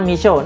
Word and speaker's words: Meesho: aplikasi namanya bumi pisau tulisannya tuh mpshh Oya bacanya Miso nah aplikasi ini sebenarnya asalnya dari India dan